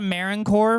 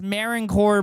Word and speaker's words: Marine Corps: Should we look at the Marine Corps birthday? Yes, I'm saying it correctly. It says U.S. Marine Corps birthday. U.S. Marine Corps, not Marine Corps, Marine Corps.